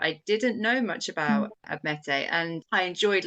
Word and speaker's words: Admete: And with Atalanta and, is it Admete? Is that how you say it? Admete actually means Greek, but Admiti would be probably how we would anglicize it.